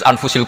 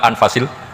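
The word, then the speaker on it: أنفس: anut bacaan saya saja di sini ditulis anfusil kutub kalau saya baca anfasil kutub karena maknanya kitab ter baik Kalau kitab terbaik bacanya n Bukan anfus tapi apa anfas ya nanti kamu debat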